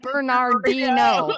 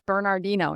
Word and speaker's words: San Bernardino: It's Bernardino. And Yeah. It's Bernardino.